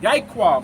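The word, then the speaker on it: יעקב: Yaiquab, how you pronounce it.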